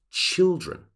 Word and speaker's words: children: example child becomes children so the I sound of child changes into children all right so those